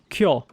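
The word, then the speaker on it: 去: For example, if you look at Japanese and if you look at that character, that's pronounced kyo.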